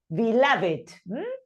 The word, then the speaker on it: beloved: We don't know why, but sometimes the ed is pronounced and sometimes it is not. Or it is always pronounced the d, and but in this case it's beloved.